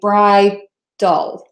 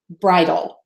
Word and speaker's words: bridal: for that out Bridal some people say when I pronounce it they actually hear a little schwa sound in there like you're saying Bry dolls like doll like the word doll not shiny Bridal and that's fine too you can say that